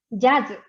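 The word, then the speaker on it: ジャズ: Y jazz se pronuncia jazz. Entonces, la G más Z.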